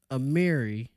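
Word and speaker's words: Amihere: Bill ziya Cook Leticia Amir Amiri I believe that's how you say her name Leticia Mary and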